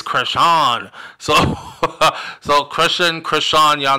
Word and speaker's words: Chrisean: and you say Christian rock and they're like it's not Christian say her name right it's cran so so Christian Chan